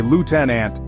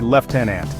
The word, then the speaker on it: lieutenant: Brit say tomato Lieutenant Americans say Lieutenant while Brit say leftenant remember neither pronunciation is